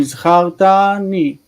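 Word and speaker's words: זכרתני: Zacharta ni. Zachartani. Okay, and the accent goes right there.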